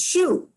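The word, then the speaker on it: shew: something i believe uh show s-h-o-w was written and pronounced as shu s-h-e-w so i just pointed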